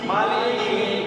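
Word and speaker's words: مَالِكِ: মা লাম জের লি লাম জের লি মালি মালি কাফ জের কি কাফ জের কি মালিকি মালিকি আবার বলেন মিম জবর মা মিম জবর মা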